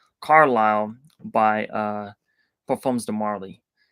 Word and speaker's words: Carlisle: I know I can't you're not supposed to pronounce the S Carlisle by uh performs the